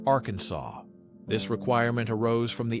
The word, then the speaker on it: Arkansas: It must be pronounced with a silent ending, like Arkansas.